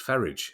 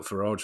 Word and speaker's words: Farage: Uh although his his dad was the one who told me it's Faridge I don't know where he's got Farage from.